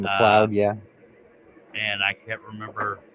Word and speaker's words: MacLeod: got some bourbon by kevin mccloud mcleod is how it's spelled kevin mccloud yeah and i can't